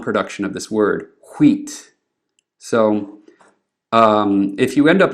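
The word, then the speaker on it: hwīt: Well, like I just said, Old English does not write a sound that is not pronounced. So this word at the bottom, which means white or clear or bright in Old English, is wheat.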